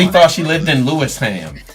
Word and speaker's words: Lewisham: thought she lived in Lewisham. Where's Louis fam? What's that? You know they're gonna kill you for the ham. Hey, Spen. It's Lewisham, okay? Lewisham.